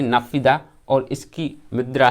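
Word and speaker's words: Naypyidaw: Myanmar की राजधानी है नाफिदा और इसकी मुद्रा है क्वाथ।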